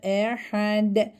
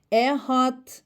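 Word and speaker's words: أحد: Ve buradan dal harfi cezimli olarak geldiğinde çoğu arkadaşım ehat sanki t harfi varmış gibi okuyorlar. Bu yanlıştır. Dikkat edelim. Ehad.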